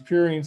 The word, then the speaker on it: purine: know is two things think of the pew rhymes with two because these purines have two rings okay the other thing